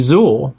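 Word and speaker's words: Zoar: me saying you know my name is zor and I am from the galactic Alliance and zor is spelled z o a r and for Americans who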